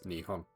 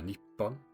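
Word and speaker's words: 日本: I think most people know that Japan is pronounced as nihon in Japanese. However, nippon is also a valid alternative. They're spelt using the same Chinese characters, but what differs is the pronunciation.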